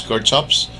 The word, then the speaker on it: Kirchhoff: gustav robert kerkhofs or some of the uh faculty uh pronounced this one as kirchhoffs but i used to pronounce this one as kirkhof's kirkhof then james clerk maxwell